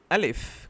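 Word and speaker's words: ا: So al if comes from the back of your throat alif simply al if next ba and ba is used by is produced by using the lips ba.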